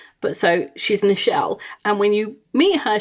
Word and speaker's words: Nichelle: I know someone who's called Nichelle, which is Michelle with an N at the front. I don't know why her mother decided not to have an M, but to have an N.